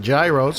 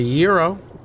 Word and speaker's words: gyro: We call it gyros cuz it's spelled with a G, a Y, an R, and an O. Some people call it a euro. Well, what happened to the G? And where's the second R?